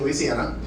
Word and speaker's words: Louisiana: Um uh uh Lafayette, Louisiana, which is how they say it, Louisiana.